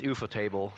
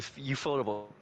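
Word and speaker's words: ufotable: I mean it it is euthfotable. So yeah, euphotable. You euphotable. That's how you pronounce it.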